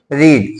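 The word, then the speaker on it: read: अंग्रेजी क्या होती है रीड सेकंड फॉर्म क्या होता है रेड लेकिन स्पेलिंग वही होता है ठीक है रेड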